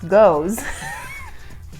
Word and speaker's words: Geuze: What you just called a Geuze, pronounced Geuze, We did it.